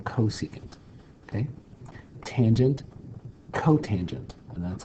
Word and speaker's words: cosecant: And this you're going to pronounce cosecant. Don't say CSC.